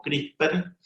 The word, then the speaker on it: CRISPR: Tengan presente que cuando se hable de CRISPR, hay que sacarle la última E y pronunciarlo como CRISPR.